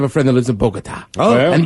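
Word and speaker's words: Bogotá: friend that lives in bogota oh yeah and you gotta say it like that i don't know why bogota bogota uh but right sophia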